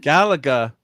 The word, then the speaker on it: Galaga: Galaga. Oh, it hurts to say it that way. Well, don't say it the way you want to say it. So, the Gala part is pronounced like galaxy.